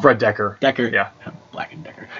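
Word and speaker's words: Fred Dekker: 50s 60s horror movies oh it does so fred dreger i keep feeling a fan's last name wrong fred decker decker yeah black and decker all right so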